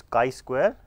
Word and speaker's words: chi square: a chi square test it is pronounce as chi square written like this and the symbol is